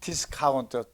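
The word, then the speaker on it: discount: 거 하고 N 있어요네 그다음에 트가 나오면은 발음 안 해요 아 그렇구나 그런데 문제는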